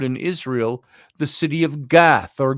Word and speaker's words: Gath: Israel the city of gath or gut as it's called I guess it's spelled in the English Bible g- a t h of the city of gut um hey Isaac Isaac